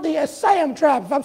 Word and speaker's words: Assam: It was called the Assam tribe. If I'm saying it right, it was spelled A-S-S-A-M. If I ain't pronouncing it right, you can correct me later.